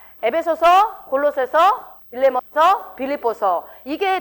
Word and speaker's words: 에베소서: 이게 다 4개 이제 옥에서 쓴 서신서인데, 특별히 여러분 여기서 에베소서하고 발음을 에베소서로 하지 말라고 자꾸 우리 서준이가 지적을 하더만, 이게 전라도 사람들이 안 되는 발음이 좀 몇 개 있거든요. 예배소서라고 해야 되나요? 어떻게? 에베소서.